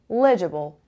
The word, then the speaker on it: legible: name is legible eligible legible legible legible the stresses on the first level okay so on earth